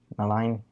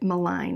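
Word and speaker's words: Milne: other authors such as AA mine I believe miline I always pronounced it mign he's the guy that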